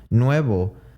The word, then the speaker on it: nuevo: ends in a vowel now words that exemplify this are you could say nuevo nuevo has a v in it but it uses the bilabial approximant another one would be estaba estaba uses that bilabial approximant however it has a b in it nuevo and estaba use